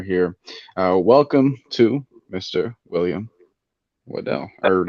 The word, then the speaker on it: Waddell: William Waddell. Or how do you say last name? That would be Waddle. Waddle.